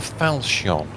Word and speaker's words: falchion: Do you have a falchion? That's how you pronounce it.